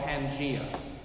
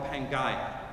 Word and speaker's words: Pangaea: was a unified mass, what geologists call Pangea, or sometimes called Pangaea, depends on how you want to pronounce it, Pangea or Pangaea.